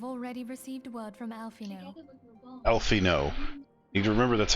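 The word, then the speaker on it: Alphinaud: worse I have already received wood from alfino alfino you can remember that's how you pronounce his name Alpha nov his founding particularly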